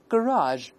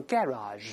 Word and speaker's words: garage: 这个英式发音呢一般都是 garage，在美国一般都是 garage，都对，后